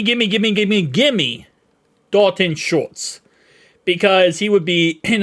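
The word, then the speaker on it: Schultz: I'm saying his name correctly this time dalon shortz shortz shortz I've listened to a thousand different videos cuz I butchered his name one time I listen to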